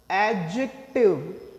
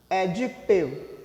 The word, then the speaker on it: adjective: Adjective. Adjective. Okay. So never try to say adjective.